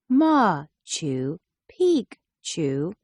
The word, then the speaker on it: Machu Picchu: was a Royal Estate Machu Picchu pronounced ma Chu Pik Chu was a city that